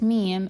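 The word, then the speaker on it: ميم: First meme is pronounced through closing the two lips together and letting the air or the sound come out through the nasal cavity. And it's very similar to the m sound in English.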